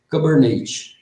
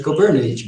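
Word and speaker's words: Kubernetes: chamamos de cernes né porque a pronúncia fica e Cabernet entendeu aí por isso que eles chama lá de quando você vê escrito nos tutoriais assim ó k8s o cara tá falando de cnet beleza só para vocês saberem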